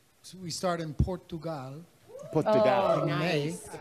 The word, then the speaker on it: Portugal: Portugal.